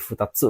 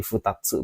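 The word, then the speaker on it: ふたつ: Ini bacanya jadi futatsu kalau diikuti. 2 diikuti tsu jadi futatsu bacanya. Ini baca khusus ya.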